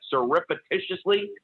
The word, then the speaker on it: surreptitiously: John, how do you pronounce that? Surreptitiously?